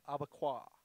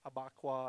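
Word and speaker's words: Abakuá: AFR Cuban pattern called abaqua or abaka I've heard it pronounced a few different ways uh a b a K wa abaqua okay and it's in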